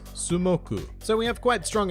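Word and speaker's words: スモーク: top it all off, Moku even forms part of the Japanese pronunciation of the English word for smoke, which is Sumoku.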